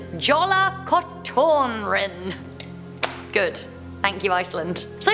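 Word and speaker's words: Jólakötturinn: We have the legend of, correct my pronunciation, Jola Kotorin.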